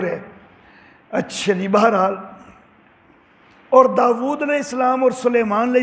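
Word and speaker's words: داوُد: نقلی تفصیلی نمبر 5۔ یہاں پر داود کو دیکھیں، واو کے اوپر الٹی پیش ہے، حمزہ نہیں ہے۔ ہم اکثر تلفظ غلط کرتے ہیں، ہم داود بولتے ہیں، داود تلفظ ٹھیک نہیں ہے، داود۔ حضرت یوسف کو بھی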